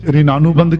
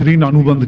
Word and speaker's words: ऋणानुबंध: कुछ लोग इसे ऋणानुबंध कहते हैं। उच्चारण में कुछ ऋण अनुबंध कहते हैं। ऋण अनुबंध।